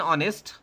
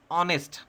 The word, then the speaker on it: honest: Note: an hour, an honest. The H in our honest is silent. Hour is pronounced as hour and honest is pronounced as honest, not HONEST.